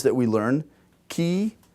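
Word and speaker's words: χ: Now this is traditionally how we learn they're pronounced. Chi, theta, phi. Okay?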